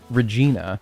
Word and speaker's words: Regina: Regina, that's true. Yeah. Yeah. Yeah. No, you're right. You're right. What other than that though? Also, is it said Regina or is it rhyme with vagina?